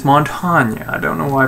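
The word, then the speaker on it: Montagne: me with you mean Montaigne it's like no the way you extra pronounce it is montón yeah I don't know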